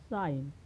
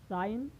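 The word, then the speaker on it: sign: When I ji comes before N, यानी जो आई और जी एन के पहले आता है तो जी को साइलेंट पढ़ा जाता है। जैसे आपका हो गया साइन। तो दोस्तों, हम यहाँ देख रहे हैं कि एन के पहले क्या है? आई जी, तो यहाँ पर आई जी का उच्चारण नहीं होगा, यानी क्या होगा यहाँ पर? यह साइलेंट।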